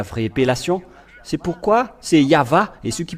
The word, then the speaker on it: Yahvah: le V la vraie appellation c'est pourquoi c'est yava et ceux qui prononcent yava sont ôés du péché mais ceux